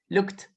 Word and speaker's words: looked: Por ejemplo, look termina en sonido de K, look. Es decir, que la ed va a sonar como una T. Así que yo digo look, look, looked.